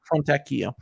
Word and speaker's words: Fontecchio: Fontecchio.